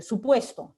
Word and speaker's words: supuesto: Esa U se pronuncia muy rápidamente, no es que no se pronuncie, ¿no? O no es que haya diferencias propiamente en el modo, en el punto de articulación, no las hay, pero digamos la pronunciación es muy rápida, se le da mayor